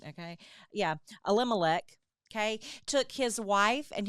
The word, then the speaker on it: Elimelech: Yeah, Elimelech, okay, took his wife and his 2 children, his 2 sons.